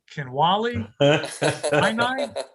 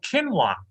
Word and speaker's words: quinoa: is something called quinoa kenwali my wife corrects me says it's called quinoa i said if i